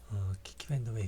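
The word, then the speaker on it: Kiki Vandeweghe: 키키 밴더웨이 같은 경우도 한번 보실까요? 키키 밴더웨이 같은 경우도 상당히 어려운 이름이죠. 예. 키키 밴더웨이라고 읽으라고 나와 있습니다. 강세는 밴 그리고 첫 번째 키에 있다는 것.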